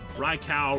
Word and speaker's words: Raikou: Raikou, Raikou, Raikou. Big cat thing. Big cat. It's if it's the Japanese pronunciation, it'd be Ko.